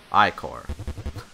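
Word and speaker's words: ichor: trouble Charles I can fill magical Igor that's pronounced Oh Ike or choose your eye for wisely so we got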